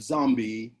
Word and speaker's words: zombie: the popularity of zombies in movies and and films so i pronounced the word zombie it's like an americanized pronunciation the african word from which it comes is zombie um and the the